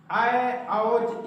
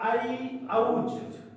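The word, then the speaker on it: ऐऔच्: सूत्र हुआ आय औज, इसको पढ़ते हैं आधुनिक जो परंपरा प्राप्त नहीं है वो आय औज पढ़ते हैं, किंतु पुरानी परंपरा जो गुरु परंपरा से उच्चारण प्राप्त है इसको बोलते हैं आई औज। क्या बोलते हैं? आई औज। ये अंतर है थोड़ा, क्योंकि ये श्रुति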